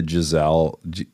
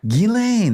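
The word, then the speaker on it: Ghislaine: probably applies here yeah have you started the jaizelle gazelle why do you say your name g gizel it's Maxwell her last name is Maxwell the pronunciation yes yes I think it's gain gilain that sounds perfect let's he gilain Maxwell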